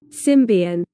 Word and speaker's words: Symbian: In which case, I'm going to go with the British pronunciation because Symbian sounds like symbiote, so it's easier to say. Plus, Symbian just sounds dumb. Besides, why would you say this as Sian if you say this as symbiote?